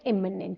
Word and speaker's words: imminent: एमिनेंट बोलते हैं, इसको हम बोलते हैं इमिनेंट, बोथ आर एडजेक्टिव।